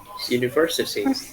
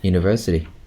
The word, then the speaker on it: university: Where's the stress? Third syllable. Yeah, then how would you say it? University. No. Going down, going down, going up. University. University, right?